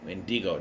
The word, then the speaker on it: Wendigo: And that's how you say it, Wendigo. Not Wendigo, Wendigo. Because this show said so.